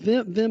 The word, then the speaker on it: Wim: If you go to, there's an app for Vim is spelled W-I-M, but Wim, so if you say it phonetically, Wim Hof method, there's an app for